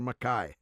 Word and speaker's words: MacKay: you'll always be peter makai yeah the makai is the proper pronunciation in the highlands somehow it got uh